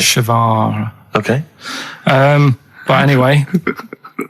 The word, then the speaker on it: Guevara: and his surname is like guitar. Right. Shavar.